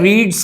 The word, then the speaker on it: read: चाहिए, ये रीड्स है, रीड्स की जो थर्ड फॉर्म होती है उसको हम बोलते रेड है, ठीक है ना, लेकिन लिखते READ है, स्पेलिंग इसकी यही रहती है।